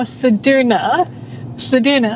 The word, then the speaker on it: Ceduna: Because you can't pronounce it, you can't stay here. So we're going to Ceduna. No, Ceduna.